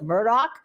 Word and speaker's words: Murdaugh: in the case of Alec Murdoch and by the way that's how he pronounced his name when he was on the stand